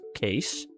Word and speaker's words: Kees: Nowadays it's, I guess, kind of rare, but it used to be a super common name, and it's Kees. K-E-E-S. That's just how we pronounce that.